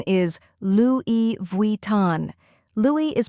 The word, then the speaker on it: Louis Vuitton: the correct pronunciation is Loui Von Louie is pronounced l e remember the S is silent in French vuon is pronounced Von